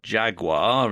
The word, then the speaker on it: Jaguar: left here is a Jaguar or Jaguar as they pronounce it in the US X type and the